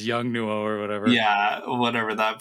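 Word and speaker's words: Yongnuo: Yeah, it's not Godoc's brand, but I can never pronounce it. It's Is with it? the Oh, YNOUGNO or something like. I think it's Young Nuo or whatever.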